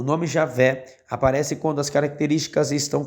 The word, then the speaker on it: Javé: Entretanto, aos poucos, este nome vem sendo substituído pela forma Yahvé ou Javé, que é a pronúncia mais próxima do original.